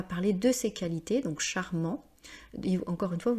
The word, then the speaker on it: charmant: de ses qualités, donc charmant, Et encore une fois, vous voyez, on ne prononce pas le T parce que c'est un adjectif masculin.